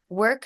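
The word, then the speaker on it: Wrk: in the similar vein the next one is work sis and it's spelled w r k work um work say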